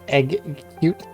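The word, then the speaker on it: Exeggcute: Well, it's I try to like hard pronunciate its name, so it's egg-cute. And that's how you know how to spell it.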